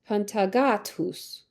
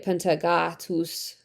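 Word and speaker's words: Pantagathus: Okay, so we would pronounce th like th, but th or ph with the Romans would have been t or p, but with like an aspirated h, like tus.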